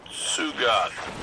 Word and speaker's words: Sugoth: We have tracking on that knight, critter named Sugoth. T is silent.